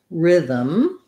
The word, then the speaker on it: rhythm: as hard to say although the voice th makes it hard so this th sound is a like in there and them so tongue between teeth and voice on then